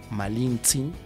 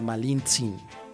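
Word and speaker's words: Malintzin: con Hernán Cortés y Hernán Cortés no podría no podía pronunciar Malinzin. Malinzin. Entonces, Malinche. Ah, Malinche. Malinche. O sea, se cambió el malin por malinche, porque fue la forma más fácil de de decirlo, ¿no?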